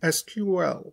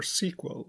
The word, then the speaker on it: SQL: The structured query language, pronounced SQL or SQL, is the standard way to query and manipulate data and schemas in a relational database.